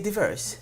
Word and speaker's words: Diiverse: is the regular word no divers go English you could say diverse diverse it's it's it's a